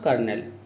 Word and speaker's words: colonel: That is pronounced as colonel. Colonel. And it is also kernel.